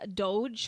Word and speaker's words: DOGE: very interesting question um doge is pronounced dog as in G not do J as in J in the J sound do I have to change my ways Brandon I'm sorry to say I think you were wrong I've only ever heard people say doge with the J sound so I think that's what that's how you pronounce it I could be wrong